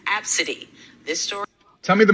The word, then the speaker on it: Abcde: daughter well her daughter's name is spelled a b c d e and pronounced absidy this story tell me